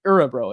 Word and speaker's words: Örebro: Örebro. It's like Huglander. It's like the O with the umlaut. It's pronounced Örebro.